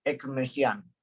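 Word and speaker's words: Ekmekdjian: fallo que se llama Ekmejian. Ekmejian se escribe Ekmekedjian.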